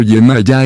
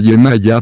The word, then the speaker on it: Yemayá: orissa en nigeria semillas se pronuncia con el sonido de hoja en la última sílaba la versión hispana ampliamente más aceptada es la de yemayá proveniente de la santería